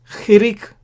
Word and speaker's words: chirik: 1 dot is chirik. Remember this ch underlined is like chet. Remember we looked at the Hebrew letter chet, the 8th letter. Chirik is how it is pronounced.